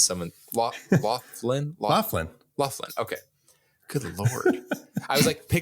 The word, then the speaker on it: Loughlin: pronounce someone. Loughlin? Loughlin.